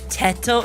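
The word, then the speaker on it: Teto: So, Japanese pronunciation, right? T E is T and then T O. So, toe. So, TTO, right? It's not TTO. It's not It's literally the way, you know, you pronounce words in Japanese, right?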